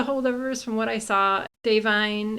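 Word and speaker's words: Da'Vine: Davine is how you pronounce her name, she's been saying.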